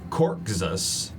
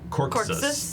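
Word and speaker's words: Corxus: I have to learn how I pronounce myself. Yeah. Yeah. Yeah. Their name is Corksus. Cork Corksus.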